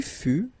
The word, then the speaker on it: fus: Je fus, okay, keep in mind that final S is not pronounced. Tu fus, exactly the same thing, final S not pronounced.